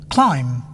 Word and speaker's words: climb: B is not pronounced when following M at the end of a word. climb, Cram, dumb, comb.